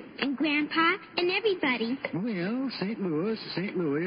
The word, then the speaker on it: St. Louis: Why, she's the strongest horse in St. Louis. Excuse me, Mr. Costello, but it's pronounced St. Louis.